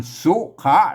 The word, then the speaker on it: สุขะ: ละ ตัว นะ ครับ ไม่ ใช่ สุข นะ ครับ อ่า สุข นี่ มัน เป็น ภาษา อ่าน ปัจจุบัน น่ะ อ่าน เป็น บาลี นะ อ่าน สุขะ น เตน ที ละ